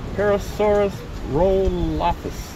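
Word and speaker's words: Parasaurolophus: Pterosaurus rolophus.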